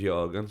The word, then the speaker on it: Jürgen: Everybody calls him Jurgen, but Jurgen is actually how They say it. Yeah, like in Germany and stuff like that. I remember it when he first came. I was watching something and it was Jürgen, so I was like,